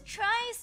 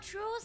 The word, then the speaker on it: Trice: have I been oh his name is Trice not truce have I been reading